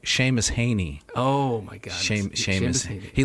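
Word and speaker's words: Seamus Heaney: deities particularly the um i'm going to mispronounce this cmos he annie oh oh sorry sheamus haney oh my god sheamus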